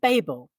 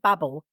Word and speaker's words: Babel: I would call it Babel and it's by Rebecca kuang who wrote yellowface but I heard her talk and she pronounced it Babble but it's about translations